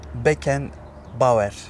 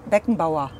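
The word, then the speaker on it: Beckenbauer: Matos Matos Matos and the last one France Beacon B yeah they good yes France is is uh perfect and beckon ba beckon ba yeah beckon B what do you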